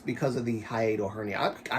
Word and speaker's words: hiatal hernia: So, I'm still not quite It's because of the hiatal hernia. I I kept calling it a aortal to to you guys. It's not a mis I'm mispronouncing what the diagnosis. It's hiatal hernia.